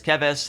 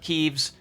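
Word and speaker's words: Keves: told my pronunciation of kevis was wrong in the last video by like 20 people so it is kevis not keeves and i'll be referring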